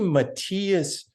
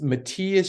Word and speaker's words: Matthias: Well, it's actually Matthias. It's Matthias Schmid, but they call him Matty because there's the Matthias Schwab from Austria that plays too.